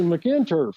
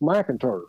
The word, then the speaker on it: McInturf: And I said, yeah, it's a McInturf. And he said, no, it's pronounced McInturf. Ah. Like MAC. Okay. He said, that's how we say it in the South.